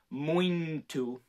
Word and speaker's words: muito: sound like if i really laid into it moin to but it's not it's it's just very subtle